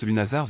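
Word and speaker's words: Lughnasadh: August marked a sacred and deeply communal event Lugnasad pronounced Lunazar the Celtic festival honoring Lugh the god of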